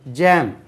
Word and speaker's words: jaw: JAW ஏற்கனவே தெரிஞ்சாலும் ஜான்னு நம்ம உச்சரிப்போம் தெரியாமல். தாடை. ஜோ எப்படி உச்சரிங்க? ஜோ ஜோ. அப்போ நம்ம ஜானே படிச்சிருக்கோம். அது ஜோ. JAW ஜோ.